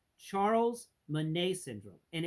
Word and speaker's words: Bonnet: life and that one thing is called Charles Mane syndrome and it's French so that means it's spelled Charles Bonnet syndrome remember that Bonnet it's